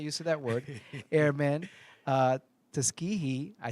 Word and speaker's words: Tuskegee: According to Tuskegee, excuse me, I'm not used to that word, airmen, Tuskegee, I said it right?